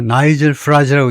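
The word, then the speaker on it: Nigel Farage: 인기 영합주의적인 정당인데이 당 대표가 나이젤 프라즈죠요. 나이젤 프라즈라고 읽습니다.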